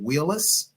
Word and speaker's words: Wheelis: on a personal note please tell me the proper pronunciation of your last name is it Wheelis you said it correctly that is correct all right all right